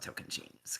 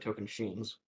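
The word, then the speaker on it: Tocantins: It is the immunity necklace on token chains. Good And I was gonna call. give him so much crap if he didn't pronounce it token sheens.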